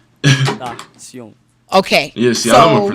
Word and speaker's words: XXXTentacion: Yeah, Yo, dude, I almost think I be pronouncing that shit right. XXXTentacion.